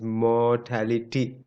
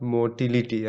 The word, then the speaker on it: mortality: and white so remember the proper pronunciation is mortality not motility i see even professors